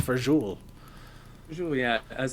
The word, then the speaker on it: fagioli: pasta who would have known it's it's it's pronounced for jewel usually i was like i'm trying to try to sound real italian and i'm like i'll have a bowl of the pasta fagioli uh like uh yeah one pasta visual your